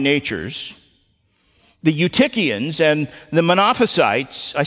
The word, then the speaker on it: Monophysites: The Eutychians and the Monophysites, I said it right that time, the Monothelites and Monophysites, they all went to the opposite extreme.